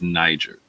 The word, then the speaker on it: niger: down the fact that the Latin pronunciation is Niger.